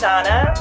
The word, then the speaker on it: Zhana: name is Zhana, so it's spelled with Z but pronounced a little bit different.